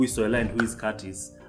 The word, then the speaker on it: Curtis: And just in case you are new and you are wondering who is Soila and who is Curtis, I am Curtis with a silent T.